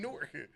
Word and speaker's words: Newark: And if you're from both places, you say them like they're all like Newark is one word, but there's a W there that we don't pronounce at all, and there's an A in there we don't pronounce.